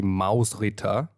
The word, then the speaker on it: Mausritter: if you don't know is a game or pronounced properly Mouse Ritter oh your pronunciation is getting good Mike um